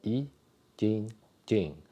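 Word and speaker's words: 易筋经: So that's the in Chinese pronunciation, it's called Yi, Jing, Jing.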